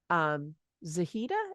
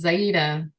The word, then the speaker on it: Zaida: I want to go back actually to our opening where we were talking about, and Zahida, is that how that's pronounced? It's Zaida. Zaida.